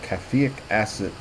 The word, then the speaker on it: caffeic acid: And you were talking about caffeic acid in a study done in India and published in 2008. Scientists investigated the radioprotective potential of caffeic acid. Am I pronouncing that right? Caffeic acid, yes.